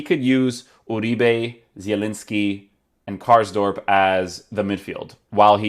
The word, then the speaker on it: Karsdorp: back for roma so cars drop let's see if he has i'm already pronouncing his name wrong cars drop has or cars dorp karsdorp i thought it was drop cars dorp wow um yeah so